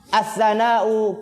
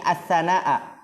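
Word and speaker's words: الثناءَ: Tapi di sini yang benar dibacanya yakni as-sana'a kullahu lillahi wal ibadatu minas sana'i wa minal hamdi. Ya, karena di situ yakni fi'il fa'il, as-sana'a itu dia apa?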